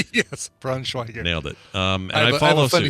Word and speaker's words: Braunschweiger: Braunschweiger. Nailed it. And I follow have a funny suit. story too once we're done with this about Braunschweiger.